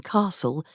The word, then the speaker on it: castle: The pronunciation of t in castle and the ul in wood also disappeared.